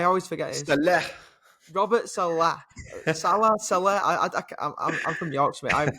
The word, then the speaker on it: Saleh: Salah. I'm from Yorkshire, mate. I've got no chance of pronouncing that.